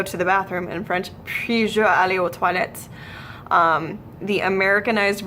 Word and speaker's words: puis: So it's puis. Puis-je aller aux toilettes? If you have specific questions about French pronunciation, feel free to leave that in the comments section or just ask me during class, whatever.